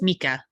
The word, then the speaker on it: Mika: it's is it Russian is your name Russian Mika uh it's it's Finnish uh it's Mika Mika thank you correct me